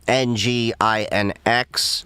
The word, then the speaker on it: nginx: So, Apache and Nginx, uh spelled um n g i n x, November, Golf, India, November, X-ray. Um that's But, that's how it's pronounced, Nginx.